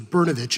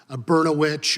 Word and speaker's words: Berovic: fourth grade that I realized my name was berovic and not beroit or brosaurus vit or any other words that rhyme with that and that's just what